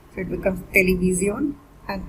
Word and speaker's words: televisión: When television is almost same in Spanish except with the pronunciation and a little accent over O, so it becomes televisión, and it's a feminine noun.